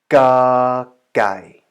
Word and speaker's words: ก ไก่: Right, I think you are already a little bit familiar with how the tones work and how you actually utter the sound and pronounce the letter ga gai.